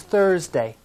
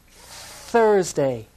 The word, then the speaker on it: Thursday: the fourth day is thursday stick out your tongue for the sound thursday once again thursday good